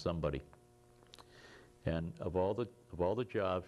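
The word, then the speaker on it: Szombaty: And the fellow who was the secretary, private first class, his name was S-Z-O-M-B-A-T-Y, pronounced somebody.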